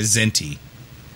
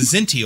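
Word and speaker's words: Kzinti: was occasion or a zinty right and so because the zinty also looked cat-like um so it's spelled with a k so it's k-z-i-n-t-i um this is the k is silent um but uh she's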